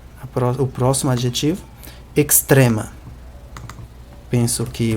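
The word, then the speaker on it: ekstrema: A pronúncia não é a mesma, mas onde tinha um X do português, vira um KS. Não só nessa palavra, mas em muitas outras palavras em que geralmente aparece um X na letra em português, vai aparecer um KS na letra em Esperanto, na palavra em Esperanto.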